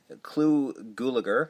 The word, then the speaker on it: Clu Gulager: Clu Gulager, as I found out that's how you pronounce it.